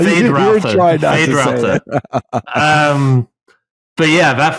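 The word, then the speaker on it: Feyd-Rautha: I was like, Feud Rafa? No, Fade Rafter.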